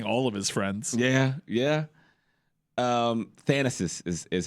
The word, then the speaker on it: Thanasis: Thanasis is how you pronounce it.